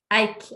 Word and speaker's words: Eik: Is it Eik or Eik? Both is good. Eik. I say Eik.